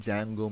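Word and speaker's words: Django: a framework please understand Jango means framework you don't pronounce the letter D Jango is a framework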